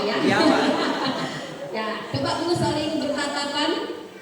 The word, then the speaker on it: Giawa: Ini bacanya Giawa ya. Giawa.